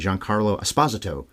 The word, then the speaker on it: Giancarlo Esposito: Or according to him, I heard him say this recently, Giancarlo Esposito. is how he says his name should be pronounced.